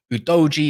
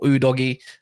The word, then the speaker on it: Udogie: big positive they've got udoji as I've been told that's how you pronounce his name or you can call him udog or udogie I don't know how you want to say it's all up to you guys big up for